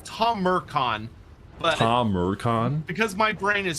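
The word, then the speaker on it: Tamurkhan: or Taran something so it's it's Tom it's Tom meran tomon because my brain is stupid I like to say tacon which is not correct oh but I don't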